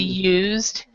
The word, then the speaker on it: used: instead of used we we do not pronounce the E here so it would be used admitted but this one